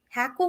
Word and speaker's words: hackle: Hackle or heck am I saying it wrong Hackle feathers I think it was living in h-a-c-k-l-e